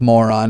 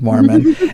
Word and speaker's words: Mormon: just die laughing because he pronounced it the Book of Moron instead of the Book of Mormon.